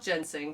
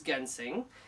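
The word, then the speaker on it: ginseng: gensing or some people want to call it Jens sing but the proper pronunciation is gensing and it's panex and it's from Korea this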